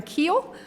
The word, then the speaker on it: Kuehl: All right, our next speaker is Aaron Keel.